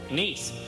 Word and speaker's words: Nice: You know, that's how they pronounce that town. Nice.